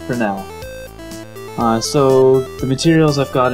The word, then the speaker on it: Fresnel: I always thought it was the Fresnel effect, but no, it's pronounced Fresnel.